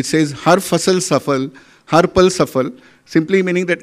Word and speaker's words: सफल: एस ए एफ एल बट इ pronounce सफल in India वच इज अंडरस्टूड अक्रॉस